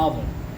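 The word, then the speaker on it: hour: आवर, आवर में H silent है इसलिए यहाँ पे एन लगा है।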